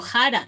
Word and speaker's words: jara: hecho a mi bebé yo pronuncio jara yo no digo sara yo digo no no